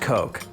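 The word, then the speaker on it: Koch: uh it's pronounced Coke Coke brothers who the hell LED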